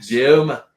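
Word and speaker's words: Douma: and he certainly wouldn't be getting involved in Doma. Duma? Doma. It's D-O-U-M-A. Duma. So whatever. I'm sure there's pronunciation we're getting wrong.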